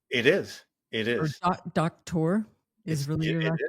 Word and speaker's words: Doktor: Did I pronounce that right? It's Doktor, but it's okay.